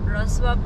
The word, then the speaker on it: Wrocław: Pronounce niyan. Wrocław daw, Wrocław.